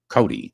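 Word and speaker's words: Coday: Cody. Cody. Uh, I always say spelled C O D A Y and pronounced Cody like Wild Bill Cody.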